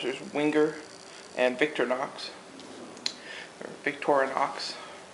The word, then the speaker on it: Victorinox: make these knobs there's winger and Victor Knox victorinox pronounce it correctly I personally am a victorinox soon